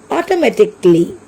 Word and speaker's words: automatically: Here A is silent. So we have to pronounce the word automatically.